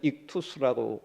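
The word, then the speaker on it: ἰχθύς: 쉽게 그냥 우리식으로 읽으면 익투스라고 읽습니다.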